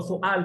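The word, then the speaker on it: سؤال: आ रहा होता है, उर्दू में हम सवाल सवाल कहते हैं, वाव को प्रोनाउंस करते हैं ना, लेकिन अरबिक लैंग्वेज के लिए ऐसा नहीं होता, बल्कि इसके अंदर हमजा को कहा जाता है। तो सुआल पढ़ेंगे, दोबारा पढ़ें।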